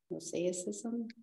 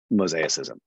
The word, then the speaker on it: mosaicism: Mosaicism? Mosaicism. Yeah, mosaicism. like a tile mosaic.